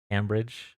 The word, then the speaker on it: Cambridge: Oh, Cam like ham. Cambridge.